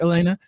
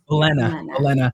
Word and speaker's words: Olena: Am I pronouncing it right, Elena? Olena. Yeah.